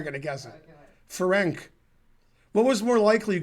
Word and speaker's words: Ferenc: Ferenc pronounced Ferenc with TS, the C.